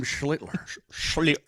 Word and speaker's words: Schlittler: Give us a pronunciation. It's a great game yesterday by Cam Schlittler. It's Cam Schlittler.